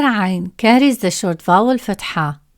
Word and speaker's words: عين: To pronounce it, start by saying a and gently tighten your throat as you speak. This creates the strong, unique sound of عين.